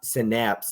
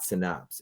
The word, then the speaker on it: Synapse: I see not a birthday nothing it's it's pronounced syap synapse not synops and I was like not today I'm not